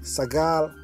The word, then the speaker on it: Sagal: The first A is a short vowel, hence it becomes Sag, and the last A is a long vowel, and hence it becomes Gal, so the word is pronounced Sagal.